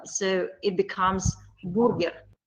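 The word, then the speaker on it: бургер: Yeah, we pronounced it letter by letter.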